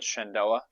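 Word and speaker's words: Shenandoah: I I apologize if I'm getting that name wrong. Shandoa.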